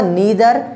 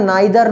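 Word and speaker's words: neither: सबसे पहले मैं आपको बताऊंगा नीदर, डेड, डैश, नोर। कुछ इसको प्रोनाउंसिएशन नाइदर नोर भी पढ़ते हैं। वैसे ये नीदर नोर भी सही है, नाइदर नोर भी सही है, दोनों ही सही हैं।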